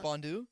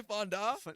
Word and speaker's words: fondue: yeah yes bro okay bro I'm bad at pronouncing certain words chocolate was it fond what is it fond fondue yeah were you going to say Fonda I I don't know chocolate fondue yeah yeah